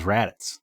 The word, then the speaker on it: Raditz: And his brother's name is Raditz, like a radish.